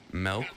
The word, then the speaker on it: Melk: Melk is gonna go down, and I love that his name is Melk because I spell it and pronounce it M-E-L-K.